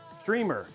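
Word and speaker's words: Strimer: So, it's like even though it's spelled S T R I M E R, it's actually pronounced streamer.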